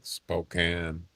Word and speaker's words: Spokane: It's can, not cane. Like, you know, a can with food. Except like she's all right. She's all right. Spokane.